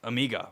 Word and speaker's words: Omega: Fanboys that don't like Omega or Omega if you want me to say it properly and I get it